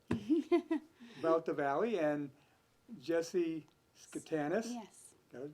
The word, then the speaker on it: Schotanus: Well, good evening and welcome to downtown Whitesville, about the valley, and Jesse Schotanus.